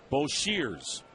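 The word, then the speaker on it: Boshers: You spell his last name B O S H E R S, but pronounce it Berser.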